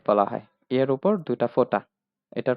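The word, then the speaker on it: Vater: বি সেটা যার মানে ফাও এটাও একটু ব্যতিক্রম একটু মনে রাখতে হবে প্রনাউন্সিয়েশনটা হবে ফাও ফাও ফাটা ফাতা অর্থ বাবা ফাটা ফা উচ্চারণ হচ্ছে ফাটা অর্থ বাবা ডাবলিউ যেটা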